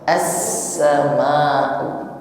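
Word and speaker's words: السماء: Maka yang di situ tidak ada harokatnya, itu bunyinya as, ya. Bukan is atau us, tetapi as-sama'u. Adapun di bawahnya ada nun kecil, namanya nun wiqayah atau nun wasal.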